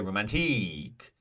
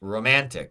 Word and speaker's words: romantic: do not say romantic we do not say romantique no it's romantic rtic second syllable the ma the a in man romantic is stressed we have two options